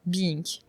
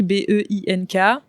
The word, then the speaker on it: Be-Ink: C'est une très bonne question parce que je l'écris Be-Ink, B-E-I-N-K, mais je le dis Be-Ink par rapidité, histoire de gagner une syllabe.